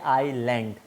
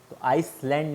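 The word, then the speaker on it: island: नहीं खा जाते हैं वहीं पढ़ते हम पढ़ते आईलैंड आईसलैंड नहीं पड़ता हम आयरलैंड पर से ठीक है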